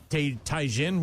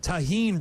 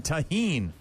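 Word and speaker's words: tahini: Anyways, apparently I said t Taihin. What the hell did I say? I have no idea what you said. And I got corrected by Amy who sent me a pronunciation screen cap from her stupid Google. And then I got a text from Matt who said, "Taheen, Brian." Taheen.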